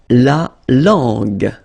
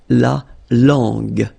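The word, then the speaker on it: la langue: Remember when we've got this j and then uh we get the sound g because when you combine this j and then uh remember it was the sound j. Okay? So you get to put this uh between the two to get the sound g. So you get la long.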